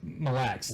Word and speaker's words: Mille Lacs: Mille Lacs. All one word.